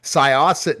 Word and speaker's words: Syosset: We've had such amazing guests and Syosset, New York, the big event and I'll talk about it in a bit.